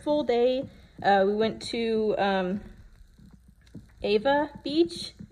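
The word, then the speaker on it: Ewa: So first full day, we went to Ava Beach. It's E-W-A, but Hawaiian language, the W's sound like V's, I think. So I'm probably pronouncing things wrong. But I think it's Ava Beach.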